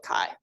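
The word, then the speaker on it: chi: what you're talking about you should call it Kai right that's important you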